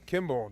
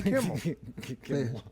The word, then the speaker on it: Kimmel: heard uh Jimmy uh Kimball did a great job he talked about it a little bit did you say Kimball or Kimberly Jimmy Kimmel I said it right Kim you know